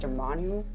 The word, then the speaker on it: Dormammu: Doctor Strange has the Time Stone, but he took on an interdimensional god, Dormammu. Is that how you say his name? Dormammu, yeah.